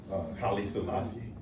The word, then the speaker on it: Haile Selassie: Haile Selassie.